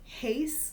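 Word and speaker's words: εἷς: Heis is the masculine way to say one in the nominative.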